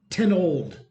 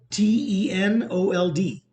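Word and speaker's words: Tenold: now about this guy his name is Brandon 10 old 10 old Brandon is his name uh Brandon titled it's spelled t-e-n-o-l-d if you want to look him up Brandon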